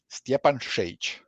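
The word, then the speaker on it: Stjepan Šejić: The way you pronounce my name is Steanage.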